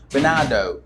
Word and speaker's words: Bernardo Milagres: So we can say, okay, so if you're good at pronunciation, or if you know something about pronunciation, you should say Bernardo.